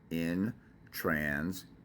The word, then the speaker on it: intransigent: but you look at the spelling of it, intransigent, like gentleman, intransigent.